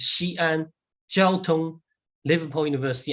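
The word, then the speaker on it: Xi'an Jiaotong-Liverpool University: Well, first of all, the pronunciation is Xi'an Jiaotun-Liverpool University.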